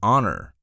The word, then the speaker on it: honor: Similarly, words like an honor. Silent H versus a hero. Pronounced H illustrate how pronunciation affects article choice.